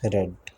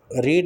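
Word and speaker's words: read: Same होती है, रीड रेड, यही है। तो रीड is spelled the same way but pronounced differently depending on tense, रीड जब प्रेजेंट टेंस हो और रेड जब पास्ट टेंस हो।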